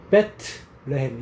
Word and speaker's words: 베들레헴: 자주 나오면 좋은데음 베들레헴을 생각하면 된다고 그래서 베들레헴을 발음을 어떻게 해야 돼 베트레햄 이렇게 해야지 베트레햄 이렇게 해야지 그래서 레의 집 뭐 이렇게 하면 되는 거야.